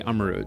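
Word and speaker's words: Armarouge: only the typings of ser and armor Ro armaro I really need to check how to pronounce that man okay apparently it's actually Amaro as I was saying we cannot just consider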